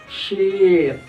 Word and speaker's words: sheet: Sheet. Lembar kertas itu sheet, panjang dia kan.